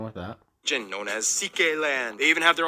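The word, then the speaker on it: Székely: Yes, that's how you pronounce it, CK.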